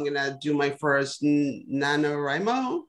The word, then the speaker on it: NaNoWriMo: I'm going to do my first NaNoWriMo. How do you say it? NaNoWriMo, yeah.